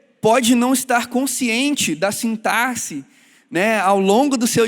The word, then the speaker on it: sintaxe: Eu aprendi recentemente que o certo é se falar sintaxe.